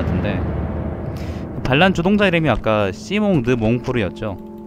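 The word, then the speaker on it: Simon de Montfort: 반란 주동자 이름이 아까 시몽드 몽포르 있죠 시몽 드몽포르 물론 이제 영어로 읽으면 이제 사이몬이라고 읽을 텐데 그 사람 이름에서 볼 수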